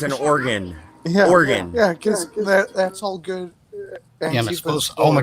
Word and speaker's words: Oregon: ain't no worries what pronouncing the state wrong because I said or Oh oh my god oh you mean O'Regan it's organ she just snap at